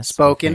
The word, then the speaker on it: Spokane: from megan up in spokane yeah spoken in washington but yeah spoken spokane washington yeah nothing like correcting pronunciation